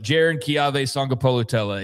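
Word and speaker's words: Jaron-Keawe Sagapolutele: It's Jaron. I don't want to keep doing this bit, but Jaron Kiave Sangapolutele is how I believe you say his name.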